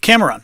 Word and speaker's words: Cameron: Cameron, first syllable. That's how we pronounce that name in English.